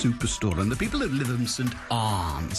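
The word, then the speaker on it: Lytham St Annes: Despite being in the north, Lytham St Anne's, it is the law that you pronounce it Lytham St Arms.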